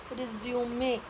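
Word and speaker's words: résumé: तो फर्स्ट है रिज्यूम verb और रिज्यूमे नाउन, बायोडेटा लेकिन स्पेलिंग सेम, प्रोनाउंसिएशन अलग।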